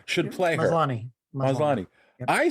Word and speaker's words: Maslany: Maslavi should play her. Maslany.